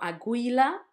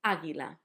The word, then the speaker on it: águila: It was not aguila. It was not aguila. It was águila with the accent and the gui.